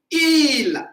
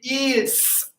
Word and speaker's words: ils: So il, but I don't read the S.